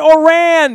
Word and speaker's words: Ourand: thanks crabman and I have learned how to pronounce his last name or ran there it is oh you are a nd